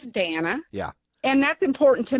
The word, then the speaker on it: Danna: know people call me Dana or Diana or and stuff like that and some people never bothers me I'll never correct you but my name's Dana yeah and that's important